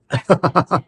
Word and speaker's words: unprecedented: So the emphasis is on press. Yes, unprecedented, not unprecedented.